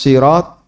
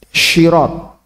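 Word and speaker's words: صراط: Beliau pernah, misalnya apa, ihdinas sirat, jadi syirat, ihdinas syiratal mustaqim, sod jadi syah, an'amta jadi Amta.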